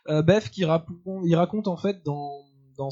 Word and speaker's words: Bethke: Et ces nouvelles ont été écrites par Bruce Bethke, si on prononce à l'anglaise. Bethke, il raconte en fait dans cette série de nouvelles qui s'intitule Cyberpunk les péripéties d'adolescents hackers.